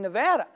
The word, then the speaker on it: Nevada: Trump isn't the only casino boss was trouble pronouncing Nevada check out my exchange was steve lynn about